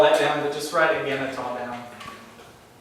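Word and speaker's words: ἐγένετο: You don't have to write all that down, but just write eganetah down. It's an interesting word. It comes up a Pronounce it lot.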